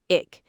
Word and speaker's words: ich: Ick. The ch is softer than a hard C. Do not close the back of your throat. Just bring your tongue near the middle of the roof and hiss gently.